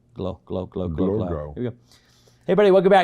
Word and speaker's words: Glogau: Glogau, and originally from Israel.